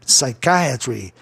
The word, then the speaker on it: psychiatry: Olha, o grupo psique é psyche, mas dada a altura, né, o volume do som do I, de psychiatry, aí o psyche desaparece. Palavra terminando em consoante Y, proparoxítono, né? Tem que ser proparoxítono. Aí contando de trás para frente, o I do ditongo IA soará I, para você entender, escutar, ouvir melhor a palavra dentro da regra de proparoxítonos.